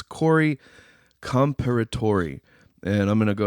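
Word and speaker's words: Corey Comperatore: minute to get the name completely right it's Corey comparator and I'm going to go ahead and spell it for everybody c o r y c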